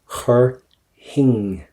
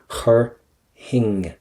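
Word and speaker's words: chuirfinn: Do not pronounce the F. Chur hing, right? Chur hing.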